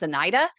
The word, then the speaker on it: Anita: Dr. Anita is the way it's spelled. Um, but she pronounces it as Anida.